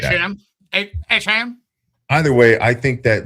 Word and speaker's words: Etienne: say his name right, Travis Etienne, or now he says it's pronounced Achane.